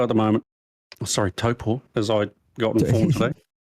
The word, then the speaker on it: Taupo: Unless there's a New Zealand track, then well, Are you plugging the V8s in Taupo at the moment? Oh, sorry, Taupo, as I got informed today. How do you mispronounce it if you are New Zealand, Marshy?